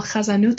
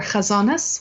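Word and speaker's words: חזנות: The Nusach, and then the more elaborate, what we call chazanut or chazanas with the Eastern European pronunciation, that was new.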